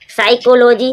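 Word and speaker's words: psychology: साइकोलॉजी। साइकोलॉजी means होते हैं मनोविज्ञान। यहां पर आप देख रहे हो पी को। पी के बाद जब एस आता है पी साइलेंट हो जाता है।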